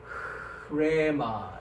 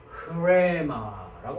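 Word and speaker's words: ῥῆμα: 앞에 히읗을 붙인다. 이 히읗이라는 거는 목구멍 소리라고 합니다. 어디에서 나오는 소리냐? 목에서 나오는 소리란 말이죠. 그러니까 해보십시오. 그죠? 그러니까 계속 되죠, 그죠? 그래서 히읗을 붙이는 겁니다. 그래서 흐레마 이렇게 흐레마라고 발음을 합니다.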